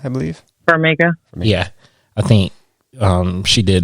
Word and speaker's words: Farmiga: It's, I think, Vera, how you pronounce her last name? Farmiga, I believe. Farmiga.